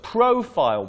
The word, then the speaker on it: profile: The second, next word, profile, profile, the stress is on the first syllable.